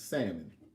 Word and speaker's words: salmon: salmon not sounding okay stop pronouncing the L it's salmon I was not really